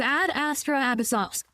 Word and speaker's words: Ad Astra Abyssosque: By the way, how the fuck are you supposed to pronounce Ad Astra Abyssos? It's Ad Astra Abyssos.